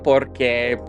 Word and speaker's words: porque: You could say, lo hice porque whatever. And the accent is removed, so the stress falls on that O in por instead of on the second syllable.